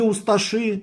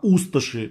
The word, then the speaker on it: усташи: не павелич а павелич не усташи а усташи ну и ряд других